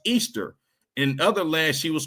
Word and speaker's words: Ishtar: Some called her the mother mother goddess Ishtar originally pronounced Easter.